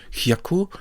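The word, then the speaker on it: 百: This has the pronunciation hyaku and means 100.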